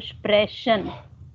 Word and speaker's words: Sprechen: Almost 30% correct, and the pronunciation is still wrong, Saurabh. So, to speak, das ist Sprechen, and then language, das ist Sprache. You are still saying Sprechen und Sprache. So, Sprechen. Okay? Sprechen.